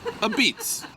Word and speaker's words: Apizza: pizza it's one word a pizza but you pronounce it a pitz but you say it like this a pizz a beats I never knew that well I only that